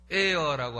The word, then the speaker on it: heir: 후사라는 것은 영어로는 에어라고 합니다. 에어가 공기인데 A-I-R 하면 공기고 H-E-I-R 하면 발음이 똑같은데도 불구하고 의미가 달라요.